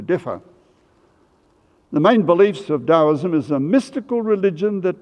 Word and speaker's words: Taoism: Now I want to move over to China, to a religion called Taoism, spelled Taoism, but pronounced as if it was halfway between a D and a T, Taoism.